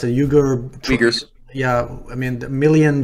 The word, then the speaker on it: Uyghurs: How do you pronounce it? Uyghurs.